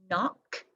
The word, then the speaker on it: knock: then we have the spelled with k in like kneel knee knock knot knife knit and knack and oh knits down